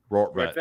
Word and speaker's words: Rortvedt: They only have McKinney, Bowers, and Rortvedt. Is that how you pronounce it? Rortvedt, yeah. Only lefties in the lineup.